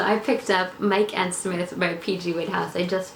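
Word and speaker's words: Psmith: The P, you see, is silent, and he put it there himself. If you ever have occasion to write me, would you mind sticking a P at the beginning of the name? P-S-M-I-T-H. See?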